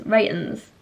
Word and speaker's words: The Reytons: like well spoken and it doesn't sound right cuz it's Rens like Rens anyway the Rens um